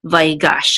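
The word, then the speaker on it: ויגש: this is my gosh this is the tert mark which gives us the accent mark so we know that the accent is I'm a last syllable by gosh and this is the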